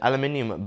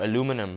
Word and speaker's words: aluminium: you've got uh an aluminium black Adano aluminium or aluminum for people that say it like that um on it so